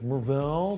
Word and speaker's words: Mar-Vell: at the movie theater to correct your pronunciation of Mar-Vell from a recent video. Actually, it's Mar-Vell, but hey, nice icy face and that crocodile finish navy blue leather band.